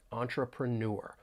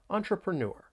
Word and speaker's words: entrepreneur: entrepreneur is B so keep in mind that the stress is on that final syllable when you're pronouncing this word entrepreneur entrepreneur and then we have